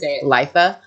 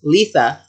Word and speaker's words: Litha: summer solstice or Lea I had to Google how to say that because apparently I've been saying it wrong for like 10 years fine lifea but it's Lisa which sounds like Lisa with a lisp I feel like that